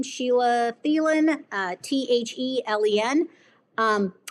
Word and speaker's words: Thelen: So, if you just track my name, Sheila Thielen, uh, t-heen. Um, it's just T with a Helen is how my last name is spelled. So T Helen.